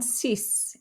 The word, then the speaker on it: six: k sound was so we do pronounce the x on cis even though we don't